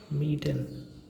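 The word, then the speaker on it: mieten: So for example, here you can see the words meeten. This meeten, right? So meeten means to rent. Meeten. IE, here I and E is present, right? So it gives the sound of E.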